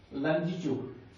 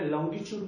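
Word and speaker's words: longitude: तो 68 degree 7 minute east लंजीट्यूड से 97 degree 25 minute east लंजीट्यूड। मित्रों से आप अपनी भाषा में लॉन्गिट्यूड बोलते हैं, लेकिन करेक्ट प्रोनाउंसिएशन उसका लंजीट्यूड है।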